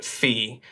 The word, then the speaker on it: Phee: So is my first name, and my last name is Phee, which is P-H-E-E.